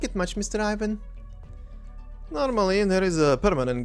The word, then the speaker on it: Ivan: Oh, and very quickly here, obviously from Magallan's perspective, I will be pronouncing the name as Ivan, even though I, as a Croatian, do know that the name is supposed to be obviously pronounced as Ivan.